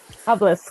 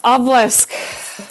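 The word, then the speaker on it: obelisk: Ob oblisk. Oblisk. Thank you. Which honestly I might be pronouncing wrong too, but I always heard it was a hard SK at the bottom.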